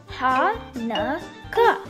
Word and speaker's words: Hanukkah: You can see different spellings, but no matter how it is spelled, it is always pronounced the same way. Hanukkah.